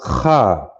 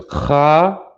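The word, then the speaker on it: خاء: What's significant about this one is it's pronounced Kha. You hear that guttural sound in your throat as opposed to Ka, which is a K-A over here, you see. This is the Kha, and this is the Ka.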